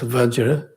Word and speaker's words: Vajra: Then Vajra in Sanskrit, Vajra is the word is pronounced as Vajra, and that's Vajra Acharya, Vajra Yana, etc.